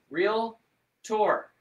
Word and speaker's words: realtor: national association of realtors it's actually two syllables real tour okay um and we